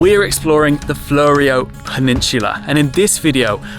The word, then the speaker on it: Fleurieu: It's the Fleurieu, are you sure? Yeah. I am notoriously bad at mispronouncing words, so we probably started off at the worst location.